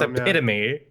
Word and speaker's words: epitome: I'm going to say I know you say EP not EP it's epitome no so is this